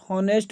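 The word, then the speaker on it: honest: तो पहला क्वेश्चन कह रहा है कि ही is fill in the blanks होनेस्ट मैन। तो होनेस्ट जो उच्चारण हो रहा है यह वोवेल से हो रहा है।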